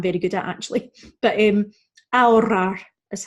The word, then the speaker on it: ahorrar: So number one, as we know, our H is silent and we're going to roll those R's. So ahorrar, ahorrar is how we say it.